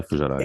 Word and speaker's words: Fujairah: Recently at Fujairah, if I'm pronouncing that correctly. Yeah, Fujairah, yes.